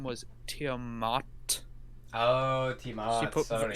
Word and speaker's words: Tiamat: Oh, Tiamat. She put a lot of pronunciation on the mot.